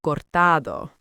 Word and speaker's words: cortado: For our listeners who might not be familiar, a cortado is a Spanish coffee drink, equal parts espresso and warm milk. The stress is on the middle syllable, cortado.